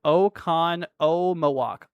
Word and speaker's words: Oconomowoc: See, Dustin says Oconomowoc.